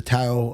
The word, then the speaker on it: Tao: There's a book called The Tao of Jeet Kune Tao Do. of Jeet Kune Do, Did I yeah. say that right? Yeah. T-A-O. Tao. That's Tao. how it's pronounced.